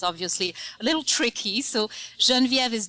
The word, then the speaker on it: Genviev: being European is obviously a little tricky so janvier is G as in George II as in